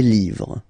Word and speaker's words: livres: Okay, les, and then same rule, you just write livre, and then you put s at the end, but then you don't pronounce it. Les livres, le livre, les livres.